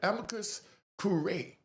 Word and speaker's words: amicus curiae: They filed what was called a amicus curiae, right? Amicus curiae, that's how it's pronounced.